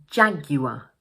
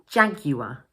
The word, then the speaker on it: Jaguar: Notice that, like in the previous example, the final R is pronounced as a schwa, So we pronounce it jaguar, jaguar.